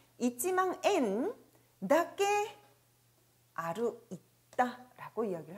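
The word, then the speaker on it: 円: 자, 원을 일본어에선 엔이라고 읽습니다. 있지망 엔, 낱개 아루 있다 라고 이야기를 하네요.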